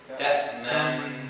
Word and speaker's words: تأمنا: No, you're saying تأمننا ما لك لا تأمنا على يوسف تأمنا keep the فتحة no ضم.